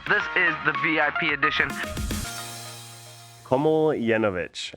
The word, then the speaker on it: Komljenovic: Komljenovic. It's actually pretty simple if you just simplify it in your head, right? It's Komljenovic, and you make that one long word.